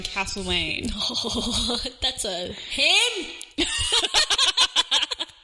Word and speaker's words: Castlemaine: Why did you say castle? Because that's how it's said. Castle. It's not castle. Castle. I know because I grew up in Castlemaine.